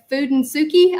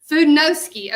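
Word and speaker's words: Fudenosuke: to get real fancy, it's that Fudensuki, I think is how you pronounce it. And it is very small. Say it, Jennifer. Fudenowski.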